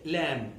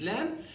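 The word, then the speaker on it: لام: So this letter is called lam. The name of this letter is lam, and the pronunciation is la. It gives the same sound and nearly the same shape as the L in English.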